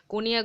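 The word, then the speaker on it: Cognac: brandy মদ খনিয়াক এটা হলো তোমার ওই মোটামুটি কনিয়াক বলেছে একটা প্লেস আছে ফ্রান্সে যেখানে তৈরি হয়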